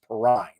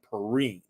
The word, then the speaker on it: Perrine: superman the television announcer always mispronounced her last name as perrine no actually it's valerie perrine um and uh but